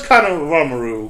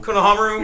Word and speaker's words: Konohamaru: to believe they're all at War but where's Kor ramaru Konohamaru yes I can never say his name right